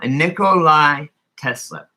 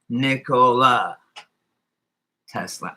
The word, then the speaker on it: Nikola Tesla: One of my anchor effects is a Nikolai Tesla. Why do we call him Nikolai Tesla? Everyone else with the name Nikolai is spelled Nikolai or AI, right? Nikolai Tesla. Now it's just Nikola Tesla.